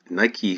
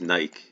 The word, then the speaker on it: Nike: I think everyone says Nike. It's Nike. I don't know how that came to be Nike. I've heard a couple of people say that, and I'm sure that's the way it's pronounced in the UK.